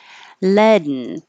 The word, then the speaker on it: leaden: started with leaden and this is using a syllabic in which means the in noise becomes a syllable all by itself and usually the rule for a syllable is it has to have only one vowel sound so this is not exactly a vowel but you are making a sound by itself so your tongue goes